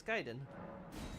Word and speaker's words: Kaiden: knife catacombs there is still the question of Kaiden also I learned that's also how you pronounce that I was like look at the Japanese I'm like oh it's Kaiden at least uh godivor is similar to the